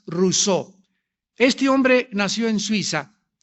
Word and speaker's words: Rousseau: mundo llamado Jean Ja rosau rosau o rousseau como lo quieran pronunciar en francés Jean Ja rousseau este hombre nació en